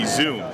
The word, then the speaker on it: Xoom: So this is the Xoom, spelled with an X, X-O-O-M.